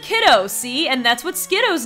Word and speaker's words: Skiddo: Well, don't mean to spoil anything, but the anime calls Skiddo Skidoo, and we have no other, way of knowing of an official pronunciation. But Skiddo is spelled Skiddo. It's not spelled Skidoo. If it were spelled Skidoo, there would be two O's.